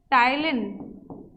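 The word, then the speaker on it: ptyalin: क्योंकि बेटा salivary amylase का ही दूसरा नाम टाइलिन है, पी साइलेंट होता है इसमें, टाइलिन।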